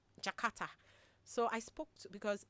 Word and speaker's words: J'kARTA: They said why don't we pronounce pick the phonetics in the word and put the words of it from J apostro k a r t a which will still sound jakata and give it the